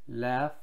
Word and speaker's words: laugh: laugh, 발음 특이하죠? laugh, laugh.